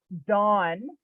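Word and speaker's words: Don: So R is dawn. D O N. That's going to be hard to remember. We all know a dawn.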